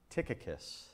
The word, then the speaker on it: Tychicus: the subject for today is going to be tickus yeah tickus so I'll spell it for you Ty y c h i